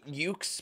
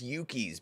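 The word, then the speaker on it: Yuke's: the whole time um I've been pronouncing ux but I think it's Yuki's because I'm pretty sure that it is a Japanese Dev studio so this entire time I'm pretty sure it's actually Yuki's and not yukes but uh there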